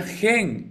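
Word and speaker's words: חן: Y cuando nosotros lo volteamos, primero ponemos la het y luego ponemos la nun sof, se se pronuncia gen y significa gracia.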